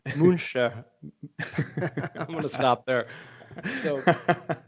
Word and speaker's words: Münster: very special guest from Münster, Germany, yeah? Yeah, hi. I'm pronouncing that wrong, huh? Yeah, you're pronouncing it almost right. Uh, Münster.